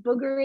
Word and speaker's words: booger: just to be correct booger is spelled with two o's if you say it with a you you're saying bugger which means something different it's like a british